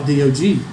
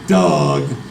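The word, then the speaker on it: Dawg: Just like DOG. If you're a Georgia fan, which I am, you pronounce DOG the correct way. You don't say Doug.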